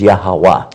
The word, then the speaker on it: Yahweh: They know that the pronunciation in Hebrew was Yahweh. Yehovah. Yahweh. Yahweh.